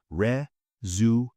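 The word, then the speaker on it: résumé: Mistake number one, resume. Wrong. Resume, right? Re zoome if you say resume people will think you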